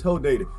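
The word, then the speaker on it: Hodeidah: day to stop in it's not who date is hoe dated but everybody bris pronounced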